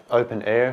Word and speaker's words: openEHR: going to talk about open air so I guess at least 50% of you understood that this English pronunciation open air is a nice little joke like being in the